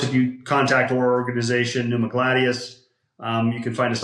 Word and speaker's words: Pneumagladius: I can It's spelled with the P. It's a Greek. It's a it's a it's derived from a Latin word, so different spelling than you'd think.